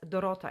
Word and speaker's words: Dorota: actually asked about it so that's dorota it's like dorothy in english so you pronounce it like it spells d-o-r-o-t-a and you pronounce it